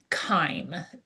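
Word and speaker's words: chyme: And it's also when food gets mixed with gastric juices and it becomes something called kime and that is spelled ch h y m e.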